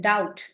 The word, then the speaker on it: doubt: But if T comes after B, T आता है B के बाद, then B is silent. Okay, so like in the this thing word doubt, DOUBT.